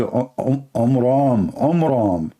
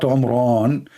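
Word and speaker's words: Amram: So it's the father of Moses, his name is Omram, not Omran. So he changed the last letter with letter N instead of M, which means it used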